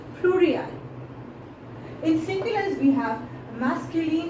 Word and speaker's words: pluriel: Singulars, we pronounce it like singulier, and plurals, we pronounce it as pluriel.